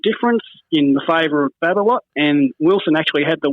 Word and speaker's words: Babolat: Wilson took on Babolat. Is that how you pronounce that?